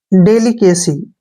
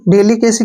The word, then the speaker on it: delicacy: देखिए DA का उच्चारण हम डे करते हैं, LI को ली पढ़ेंगे और CA का उच्चारण के पढ़ेंगे और CY को सी पढ़ेंगे। डेलिकेसी, ठीक है ना, डेलिकेसी क्या होता है?